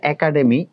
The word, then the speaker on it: একাডেমি: Same ভাবে একাডেমি, এ প্রথম বর্ণে, দ্বিতীয় বর্ণে আ আছে, দ্বিতীয় বর্ণে আ, প্রথম বর্ণে এ, দ্বিতীয় বর্ণে আ থাকলে এটা কি হয়ে যাবে, এ।